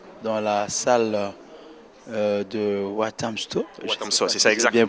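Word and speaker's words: Walthamstow: Wathamstow, c'est ça exactement. Bien prononcé.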